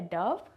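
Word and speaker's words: dove: Pronunciations क्या हैं? जो सफ़ेद कबूतर है उसे कहा जाता है डव, और ये DOV जो छलांग वाला है उसे कहा जाता है डोव, ठीक है।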